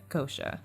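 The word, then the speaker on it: Xhosa: So, Amma Fufuana and Ukuasa are two cultures specific descriptive terms used by Kosha, but it's spelled with an XH, but I looked it up online. It said Kosha.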